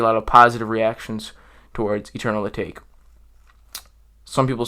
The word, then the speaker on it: Eternal Atake: Remember, when you pronounce this album's name, it looks like Eternal Atake. It's Eternal Atake, okay?